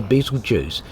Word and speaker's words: Betelgeuse: Near the start of the video I actually mentioned I was near Betelgeuse, and I've had a number of comments actually correcting me on the pronunciation of that.